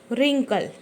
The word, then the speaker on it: wrinkle: हैं ना, वर्ड पढ़े, लेकिन इसमें क्या W साइलेंट है। अब आप सोचोगे कि साइलेंट कैसे है? तो देखो, हम जैसे इसका उच्चार करते हैं ना, ये क्या है, लिखा है रिंकल।